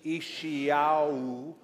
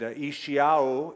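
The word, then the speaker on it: ישעיהו: Ishiyahu.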